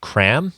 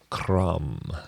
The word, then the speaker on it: Kram: and he's just released a new album called cram am i pronouncing that right cram no you're not pronouncing it right how do you say that jerome crum yep okay it's uh hugs in swedish hugs